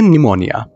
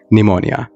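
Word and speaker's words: pneumonia: अगले विडियो चलते हैं दोस्तों इस वड़े को हम कहते हैं निमोनिया क्या कहते हैं निमोनिया इसे पीस साइलेंट होता है और इसे हम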